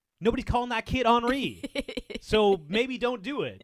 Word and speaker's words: Henri: So, like if your kid's Henri, nobody's actually gonna call him Henri. Come on. Everyone's gonna call him Henry. And it is true like Siobhan is spelled if it's Gaelic and spelled properly, it is Sioban.